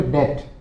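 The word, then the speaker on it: debt: तो उसको बोलोगे डेप्ट डीई बीटी यहां पर भी साइलेंट रहता है क्या बोलोगे डेप्ट फिर कर्जदार कोई किसी का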